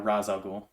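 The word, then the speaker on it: Ra's al Ghul: and then it's uh Raz al Ghul so we can go with that something something that's right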